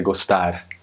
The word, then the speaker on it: gostar: But in Portugal you say gostar, and it's just like rolling your tongue, but one time.